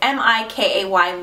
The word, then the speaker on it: MikayLove: my friend Jen, and I'm not sure if it's pronounced MikayLove or Mikay, I'm not really sure. It's MikayLove.